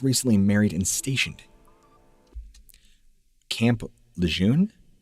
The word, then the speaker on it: Lejeune: Camp Lejeune?